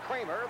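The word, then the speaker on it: Creamer: C R E A M E R pronounced Kramer.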